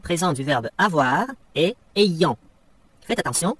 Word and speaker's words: ayant: Le participe présent du verbe avoir est ayant. Faites attention à la prononciation.